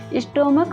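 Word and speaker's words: stomach: एक बात और, जब CH का प्रोनाउंसिएशन या उच्चारण क होता है तब वहाँ सिर्फ S लगाते हैं। जैसे स्टोमक, स्टोमक में CH का प्रोनाउंसिएशन क आ रहा है, इसमें S जोड़ेंगे।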